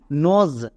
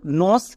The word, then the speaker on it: nose: NOSE, নজ। সো আমরা একে ভুল করেও নস এরকম উচ্চারণ করব না, এর উচ্চারণটা কি করব? নজ।